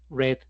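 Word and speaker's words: read: Re, red, red, ¿cierto? Red y red. La versión pasado y participio pasado suenan como el color rojo.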